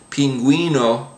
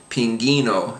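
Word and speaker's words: pingüino: I guess um but if you have that uh over the next vowel then you do pronounce the U even if it's followed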